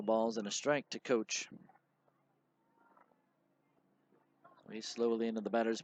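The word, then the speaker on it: Koch: Matt Coach, by the way, his name is spelled K-O-C-H, pronounced like a football coach or a baseball coach.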